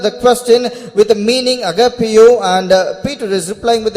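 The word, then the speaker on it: ἀγαπάω: And for that word love in the Greek tongue it means agapeo. இங்கிலீஷ்ல AGAPAO, அதுதான் அதோடைய உச்சரிப்பு. AGAPAO, அகப்பேயோ. And in English the word is pronounced as AGAPEO.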